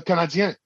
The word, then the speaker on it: Canadiens: They're not called the Canadiens. They're called the Canadiens. It's spelled IENS for a reason.